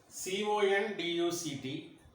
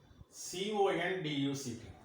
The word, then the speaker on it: conduct: Here the stress is on second syllable.